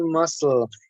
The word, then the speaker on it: muscle: strength thank you again the c is silent so you pronounce muscle i guess exactly okay